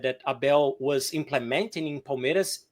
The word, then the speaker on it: Palmeiras: Is that how you pronounce it? Palmeiras?